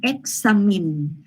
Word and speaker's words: examine: ข้อที่ 4 ตอบ B ค่ะเราไปต่อที่ข้อที่ 5 ค่ะคือตัวนี้ค่ะคราวนี้ครูให้หนูดูค่ะครูมีให้หนูเลือก2ตัวค่ะ choice ที่1ออกเสียง examine choice ที่2ออกเสียง examine หนูคิดว่า min หรือ my พิมพ์1หรือพิมพ์2ค่ะพิมพ์มาเลยค่ะเด็กๆคะขอเชิญคุณลูกค้า